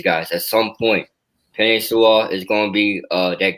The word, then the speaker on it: Sewell: I've got Sewell. That's how you pronounce it, right? Is that right? Yep. I have Sewell going there.